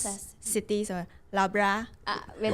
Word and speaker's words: Loughborough: name, but we found it very difficult to pronounce. Sure. Actually, before we come here, Very tough, this one, isn't it? Loughborough. Loughborough. Yeah, Loughborough.